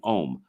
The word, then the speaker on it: Om: And the first thing I want to talk about is demystifying OM.